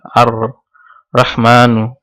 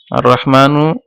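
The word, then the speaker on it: الرحمن: তারপর আর রহমানু, আর রহমানু এখানে লাম উচ্চারিত হয়নি, তাহলে এটাও শামসি হুরুফ।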